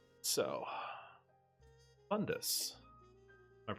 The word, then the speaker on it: Bundus: So, Bundus. Am I pronouncing that right? Yeah, Bundus.